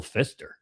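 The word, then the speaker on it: Pfister: and his name was Fister and then he and I and then there's a hotel in Milwaukee but they it's now spelled with a P pfi as a but it's still Fister and Gaffagan did a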